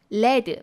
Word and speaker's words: lead: 그런데 명사로 led, 발음이 달라져요.